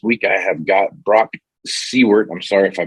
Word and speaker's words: Saewert: This week I have got Brock Saewert. I'm sorry if I butchered your name there, but is that pretty close to right? Yeah, close enough. Saewert.